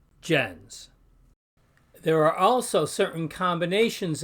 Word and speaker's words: gens: means Nation we pronounce gens notice also the soft G sound with the G followed by an e and the S at the end is z like Jens there are also certain